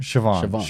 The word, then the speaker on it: Siobhan: Oh yeah, with gosh, how do you pronounce her name? Siobhan? Siobhan.